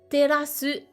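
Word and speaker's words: 照らす: C'est le verbe terasu, qui se prononce comme une terrasse en français.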